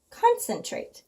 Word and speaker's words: concentrate: is a Magic II so I noticed too that because the C and the second syllable is followed by an e that's going to be a soft C so I've gone sin traped concentrate and that's a word we know concentrate okay on to the